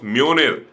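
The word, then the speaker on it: Mjölnir: जो उसका हथोड़ा है डेट इस रिटन एम जो एन आई आर बट आईटी इस प्रोनाउंस मेयोनियर सो डी जे स्टेंस नॉर्डिक माइथॉलजी नॉर्थ माइथॉलजी से लिया गया है वहां जय हमेशा ए साउंड निकलता है नो दिस इसे स्टोरी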